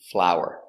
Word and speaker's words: flour: They are pronounced the same.